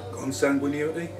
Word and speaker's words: consanguinity: Consanguinity?